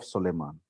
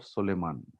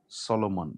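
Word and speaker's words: Solomon: श्रेष्ठ गीत को हिंदी में बोलेंगे, सॉरी अंग्रेजी में बोलेंगे song of सोलेमान। Song of सोलेमान, सोलोमन, सोलोमन अंग्रेजी में सोलोमन है।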